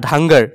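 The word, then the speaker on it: Dhangar: এন জি এ আর ধাঙ্গার ঠিক আছে ধাঙ্গার কিছু মানে ঢাংকর বলে উচ্চারণ করে কিন্তু ক্ষুদ্র উচ্চারণটা হব ধাঙ্গর ডি এইচ এ এন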